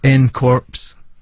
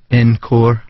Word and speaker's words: ncorps: Phonetically, it's n corpse, but it should be encore opposed to a word play.